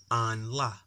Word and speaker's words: 安拉: An la. An la. That's how you say Allah. The way that Muslim people call God. Allah. That's how you say it in Chinese.